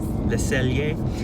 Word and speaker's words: Le Cellier: Am I pronouncing it right? Yes. Le Cellier.